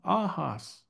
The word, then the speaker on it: ahas: familiar with but with that two syllable word that also is kind of nasal ah ahas is Crow so uh ahas ahas say that a few times